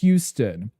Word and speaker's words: Houston: Both regret the New York street is House Stun and the Texas is Houston. Houston. Who? Like an owl.